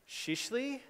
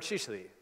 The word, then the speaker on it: Şişli: Just like if I wanted to rank for Istanbul neighborhoods, I should probably use, here's my pronunciation challenge, Shishli?